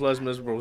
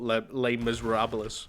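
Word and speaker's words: Les Misérables: Miserables yeah less Miserables less Miserables was less Miserables and not lay Miserables or whatever the [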